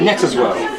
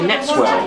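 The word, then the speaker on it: Netteswell: And you pronounce it Netterswell? Netterswell, yes. Yeah. What do other people say? Other people say Netswell. Netswell. But your pronunciation may well be correct.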